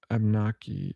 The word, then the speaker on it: Abenaki: Abenaki, yeah, I think that's how you say it. Also, Abnaki. There's another way to pronounce it. Abnaki.